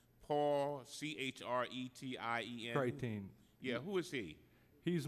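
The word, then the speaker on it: Chretien: Deming, this report says that it is from Paul Creation. You know him? Say that again. I'm probably pronouncing his name wrong. Paul, C-H-R-E-T-I-E-N. Creighton.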